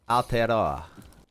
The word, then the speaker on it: Aotearoa: pronunciation of Aotearoa is pretty good. Aotearoa.